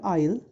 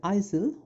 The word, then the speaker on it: isle: that it's about an island i'll the word isle or isil someone may pronounce it like isil although the right pronunciation is isle the lake